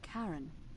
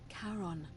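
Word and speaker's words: Charon: it's just as you described it only your pronunciation is a little off the name you heard wasn't Karen it was c h a r o n as in karon the Fairman of the Dead karon who in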